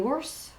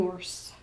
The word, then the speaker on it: ours: Un ours, this is another exception. S's are not normally pronounced. In this word, which means bear, like a teddy bear, a bear, the S is pronounced. Un ours.